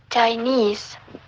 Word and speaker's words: Chinese: In such cases, we have no choice but to place the secondary stress on the penultimate syllable, like Burmese and Chinese.